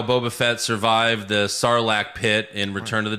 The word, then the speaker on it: sarlacc: finally find out how boba fett survived the sarlacc pit in return of the jedi good i